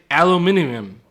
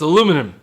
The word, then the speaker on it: aluminium: Or as the non-Americans say, aluminium, right? Aluminium is the non-American pronunciation. But for us, the chevra, it's aluminum.